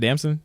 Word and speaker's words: Damson: hope I say his name right you said damson yeah damson interest uh like other actors like